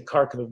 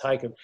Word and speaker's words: Kharkiv: Many, many Jews in the town where they lived, Kharkiv, looks like Americans say Kharkiv, but it's pronounced Kharkiv.